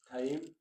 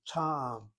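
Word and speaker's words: טעם: Taim? What about No, taim? ta'am, not ta'im, ta'am.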